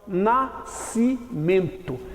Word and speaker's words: nascimento: Eu tenho aqui a palavra nascimento. Nascimento. Não é nascimento. Isso aqui, ó, SC é um dígrafo. Significa dizer que essas duas letras são pronunciadas de uma só vez. Portanto, nascimento.